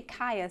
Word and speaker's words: chia: of this teaspoon of chia seeds and that's CH I a Chia or maybe Chaya seeds and you know tomato tomahto we can pronounce it different ways but you'll definitely see